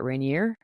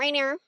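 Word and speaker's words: Rainier: Reineer from your house, Reineer. Yeah, Mount Reineer.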